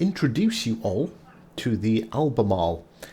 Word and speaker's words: Albemarle: So with it being, another update, I want to introduce you all to the Albemarle. Yes, not Albemarle, Albemarle. The correct pronunciation.